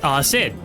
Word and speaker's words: Xid: His birthday is Sid. It's spelled XID, but apparently it's pronounced Sid.